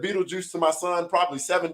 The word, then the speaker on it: Beetlejuice: for everybody knowing and when you read it it is pronounced Beetlejuice there is no reason